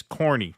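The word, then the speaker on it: Kearny: H Houston Street hon Street in the city's pronounced hon yes of course also Kierney is corny don't ask me why all right thank you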